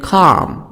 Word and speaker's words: calm: th sound, thriller, Dead Calm. In 1989, Kidman appeared in the creepy thriller, Dead Calm. Dead Calm, L silent, because I have A before L, calm.